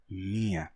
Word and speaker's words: minha: Bem, acontece que o M é uma consoante nasal, e a nasalidade do M terminou vazando para o elemento que vinha depois, transformando mia em minha, deixando esse I nasal, minha.